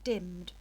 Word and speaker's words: dimm'd: owest and grossed but Shakespeare has just got rid of the E and put the apostrophe in there so it says dimmed because and often is